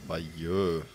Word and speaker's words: Bayeux: Bayeux wird das ausgesprochen, okay.